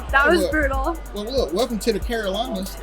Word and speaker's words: Carolinas: Well, look, welcome to the Carolinas. Like, thank you. Wait, you mean you say Carolas? Carolinas.